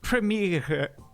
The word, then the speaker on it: Premiere: question for you sure how do you say World premiere in German it's actually premiere yeah but that's good